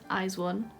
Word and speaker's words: ATEEZ: I was told that that's how it's said. ateez. Chaeyeon. Finished her heart eyes and just need her colour eyes one.